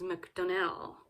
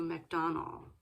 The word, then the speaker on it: MacDonnell: thanks to rick now i have seen him pronounce his name as mcdonnell uh as opposed to mcdonald rick donnell mcdonnell sorry